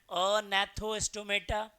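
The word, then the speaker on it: Agnathostomata: एक को हम लोग बोलते हैं अनैथोस्टोमेटा। यह जी साइलेंट है। तो एक को हम लोग क्या बोलेंगे? अ नेथोस्टोमेटा।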